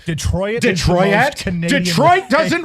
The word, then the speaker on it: Detroit: They always do this Detroit. Like they they they annunciate the I. What is that? It's a French word. Detroit. Detroit. Detroit. Canadian. Detroit doesn't rhyme with toilet.